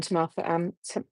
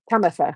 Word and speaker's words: Tamatha: I'm going to say it wrong now. To Martha, isn't it? Because I've always said to Martha, and then Lou said it right. Tamatha. I think that's it, wasn't it?